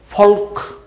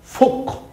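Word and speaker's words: folk: এরপরে যে শব্দটা আমরা দেখতে পাচ্ছি শব্দটা এফ ও এল কে এখানেও এল আছে উচ্চারণ হবে না তহলে উচ্চারণটা কি হবে মনে হচ্ছে হয় ফলক কিন্তু না ফলক না কথাটা হচ্ছে ফোক এফ ও এল কে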